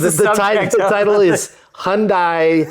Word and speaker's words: Hyundai: The correct pronunciation in Korean for Hyundai is Hyundai.